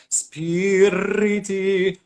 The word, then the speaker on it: spiriti: more yes is you put a really strong eye it's like spirity spirity spirity okay pronounce it once